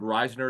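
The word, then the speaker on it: Risner: want Roger saffold is out there Phil told Reisner is how you pronounce it long time starter who was a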